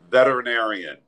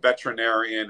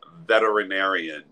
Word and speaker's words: veterinarian: say the word with me one two three veterinarian it's not veterinarian it's not veterinarian it's veterinarian and I see somebody asking that question how